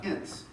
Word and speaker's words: Ince: thank you sir for those who are wondering how to pronounce my name it's uh in like Prince without the pr but I am working